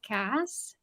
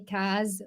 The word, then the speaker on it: Kas: I wanted to ask you, how do you pronounce that K-A-S? It's Cass. Oh, it is Cass. Okay. Yes, Okay. but Chandra has been calling me Kaz for so long, and I've come to like it.